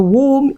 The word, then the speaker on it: womb: So when words end with M and B, focus on the M, ignore the B.